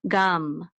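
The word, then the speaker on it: גַּם: So this is a gimel like g. It says a. So this is gam, gam.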